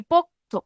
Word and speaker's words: পোক্ত: কিন্তু তাহলে কি পোক্ত, পোক্ত, পোক্ত উচ্চারণ করতে হবে কি পোক্ত, পোক্ত। এই যে পোক্ত শব্দটা হয়ে গেল কি পোক্ত, পোক্ত, কি হয়ে গেল? পোক্ত, পোক্ত। এখানে কিন্তু শেষে একটা অধ্বনি আসছে, তাহলে এই অধ্বনিটা কোথায় বসছে?